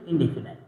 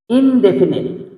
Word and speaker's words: indefinite: তো যেভাবেই বলুক না কেন, প্রথম কিন্তু থাকে প্রেজেন্ট ইনডেফিনাইট। সবাই বলে প্রেজেন্ট ইনডেফিনাইট। নাইট মানে কিন্তু রাত, এই টেন্সটা কিন্তু কোনো রাত না, ইনডেফিনিট।